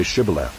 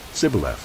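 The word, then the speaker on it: Shibboleth: they said to him then say shibala and he said sybil for he could not pronounce it right then they seized him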